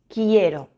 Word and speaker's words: quiero: Siempre va acompañado de U, pero no la pronunciamos, es silenciosa. Las únicas combinaciones son que y qui. Queso, quiero. R.